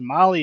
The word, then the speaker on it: Mahle: And to our podcast listeners, Molly is spelled Mahle.